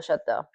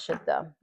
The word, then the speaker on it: shadda: So this is called a shadda, or sometimes it's pronounced as shidda.